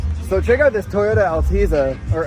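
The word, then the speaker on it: Altezza: check out this Toyota altea or alteza I don't know how it's pron how is it pronounced alteza fipe says it's alteza but look at this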